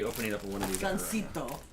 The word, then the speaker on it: Gansito: Gansito. You pronounce it like Japanese.